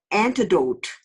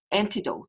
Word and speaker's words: antidote: 그래서 antidote 이렇게 하지 말고 ha고 좀 길게 읽는 거야. antidote 이렇게 길게 하면 조금 발음하기가 쉽습니다.